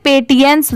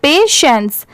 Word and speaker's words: patience: अब जैसे देखिए अगर जिनको नहीं आता पढ़ने वो इसे पेटियंस जरूर पढ़ेंगे क्योंकि जो लिखा हुआ है वो एग्जैक्ट इसी को प्रोनाउंस करने की कोशिश करेंगे, बट नहीं, इसकी प्रोनाउंसिएशन है यहाँ पर पेशेंस।